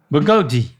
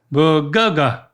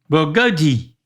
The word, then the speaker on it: bulgogi: So you said go. Guh guh Use that Use that sound again. Bulgoga. But then a I not a A at the end. God. Bulgogi.